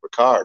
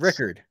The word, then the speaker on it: Rickard: first in a while i've been able to say ricard right ah i said it wrong you said it wrong john oh my goodness rickard rickard see i'm the butcher